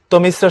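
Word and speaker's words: তমিস্রা: তমিশ্রা শব্দের যথাযথ উচ্চারণ হবে তমিশ্রা, এই যে রফলা আছে, সুতরাং দেখো তমিশ্রা, এটা ডাবল হবে, তমিস তারপরে রা, তমিশ্রা।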